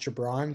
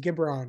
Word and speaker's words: Gibran: had just followed me they didn't know my name was pronounced Gibran so they see me on the street and they'd be like oh it's you know it's gibron or it's like guy Braun and I'm like no like yeah and so